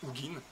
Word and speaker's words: Ugin: de soigner le dragon ugin ugin en Français les Anglais prononcent ugin ce qui va avoir